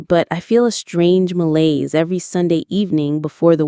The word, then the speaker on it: malaise: It's called malaise. Let's try that French word. Malaise. It sounds like males.